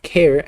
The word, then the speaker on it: char: I was time it was supposed to be pronounced care as it is short for character but who actually cares well it's short for it but that doesn't necessarily mean that um mean that it needs to be pronounced that way it should be pronounced um uh the way it's spelled right so like Char or car I think would be valid uh yes as long